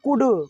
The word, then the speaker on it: could: आए तो साइलेंट थे, यहाँ पर कुड में D के पहले L आया है इसलिए कुड पढ़ते हैं, कुल्ड नहीं पढ़ते हैं, ठीक है ना, काउल्ड पढ़ेंगे, ठीक है।